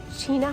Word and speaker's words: Chena: We are about an hour north of Fairbanks at a place called Chena Hot Springs. I believe that's how you say it. You might say Chena.